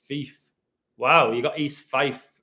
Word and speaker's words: Fife: FIFA pronounced like FIFA without the sound at the end. It is a slave, but if it's in the 42nd state of Washington near Seattle, which phonetically is like cattle, then it's pronounced Fife.